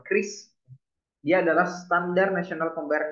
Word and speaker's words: QRIS: pembayaran bentuk kiris tadi jadi kiris kalau dibacanya adalah Kris dia adalah standar nasional